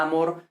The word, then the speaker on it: amor: acento no de que a amor con el acento en la a pero a maurice con el acento en la o pues bueno ahí ya